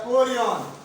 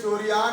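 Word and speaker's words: chorion: अगला कोरियन, अगला डालते हैं कोरियन, अगला स्तर कोरियन। अगला स्तर कोरियन, अगला स्तर कोरियन, कोरियन। स्पेलिंग में चोरियान है लेकिन रहेगा कोरियन, कोरियन।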